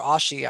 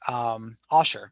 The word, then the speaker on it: Osher: If you're looking to, completely not have to pay anything, as I pointed out, Ollie or Ashi, I can't remember how to pronounce it. Osher, sorry.